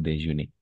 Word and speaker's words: déjeuner: Pero cada vez que termine en ER, todos los verbos que terminen en ER, todo eso se va a pronunciar E. O sea, aquí, detrás de este ER, está la E. Por eso es déjeuner.